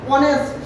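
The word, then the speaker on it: honest: এইচ এর কোন উচ্চারণ নেই এজন্য হচ্ছে এন অনেস্ট এইচ এর উচ্চারণ নেই এজন্য এই দুইটা আর্টিকেল হচ্ছে কি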